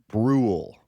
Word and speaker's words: Bruhl: Yeah, it's Bruhl. Rhymes with pool or rule. Rule. So it's actually a little easier than it looks like.